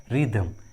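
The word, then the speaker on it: rhythm: उसी तरह रिदम, रिदम। देखिए इस इंग्लिश वर्ड में एच जो है वो आर के बाद आया है। इस ट्रिक के अनुसार एच का उच्चारण नहीं हुआ है, रिदम, रिदम।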